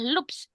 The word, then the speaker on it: loops: Tulisannya L O P S tapi bacanya adalah loops. Lups loops gitu ya bacanya, Teman-teman ya.